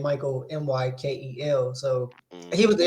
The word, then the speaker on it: Mykkel: I'll say it like Michael Mykel.